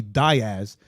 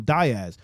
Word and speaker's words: Diaz: Right, like there's a guy on the radio who's known as Johnny Diaz, and I get upset every time I hear them say his name Diaz because his name is Diaz, Right.